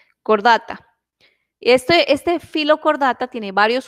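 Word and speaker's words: Chordata: Filo, cordata. Esta H se pronuncia como muda, la H, cordata.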